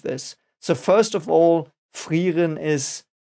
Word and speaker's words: Frieren: not very precisely so I might say fan but the correct clean pronunciation is frein and frein means freezing